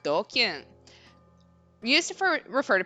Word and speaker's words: DQN: DQN is Japanese net slang pronounced doking.